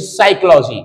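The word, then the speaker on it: psychology: भी कठिन होती है लेकिन कुछ शब्द हमारे साइलेंट होते हैं जैसे साइकोलॉजी इसमें प साइलेंट है ऐसे निमोनिया होती है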